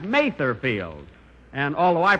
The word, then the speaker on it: Mather Field: Here it is, Mother's Day, and we're at Mother Field. That's Mather Field.